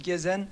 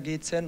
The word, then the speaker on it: Gezen: Normalerweise auf Türkisch Gezen. Gezen. Aber mittlerweile spricht jeder Gezen und man gewöhnt sich dran.